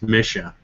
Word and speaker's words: MSHSAA: have to ask you is it Misha or Misha I've heard both from people and I want to make sure I'm saying it right it's like Missouri Missoura exactly the uh official is Misha not the e sound but we've been called